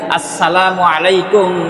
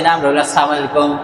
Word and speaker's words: আসসালামু আলাইকুম: একজন মুসলমানকে সালাম দিবেন আসসালামু আলাইকুম ওারাহমাতুল্লাহ কিন্তু আজকের আমাদের উচ্চারণ হয় নাইকুম এরপরে না তার মানে তুমি ধ্বংস হয়ে যাও তাহলে এ সালাম দেওয়ার